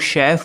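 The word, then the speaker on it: chef: बहुत मजा आएगा दोस्तों क्या आपने कभी सोचा है कि हम लोग शेफ वर्ड में सीच को श क्यों प्रोनाउंस करते हैं जैसे अगर आप केमिस्ट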